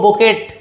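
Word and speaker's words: bouquet: bunch of flowers ना बोके of flowers तो हम ये वर्ड यूज़ करी बोके बी ओ यू क्यू ई टी लिखबो बोकेट किंतु प्रोनाउंसिएशन हो बोके ओके ए फ्लावर्स कलेक्टिव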